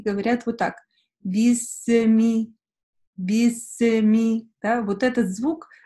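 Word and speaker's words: بِسْمِ: и говорят вот так: бисми, бисми, да, вот этот звук с в конце, его не должно быть. Вы плавно переходите с син на мим. Бисми, бисми, да, то есть не должно быть бисы, бисми.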